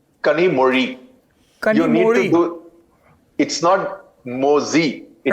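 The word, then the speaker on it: Kanimozhi: सही उच्चारण उनके नाम का क्या है? कनीमोरी कमोड़ी।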